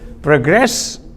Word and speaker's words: progress: of studies progress progress be mindful of this stress mark this short vertical mark vertical line okay progress emphasizing the second syllable using the word as a verb will the students progress